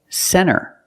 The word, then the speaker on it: center: When you see NT, a lot of times you don't hear the T. Example, center. Of course, you can say center. It's correct. But a lot of Americans will pronounce it center.